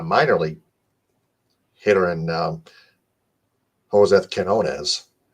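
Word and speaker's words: Quiñones: And they didn't address any bats whatsoever, except they got a minor league hitter in Jose Quinones with a silent U.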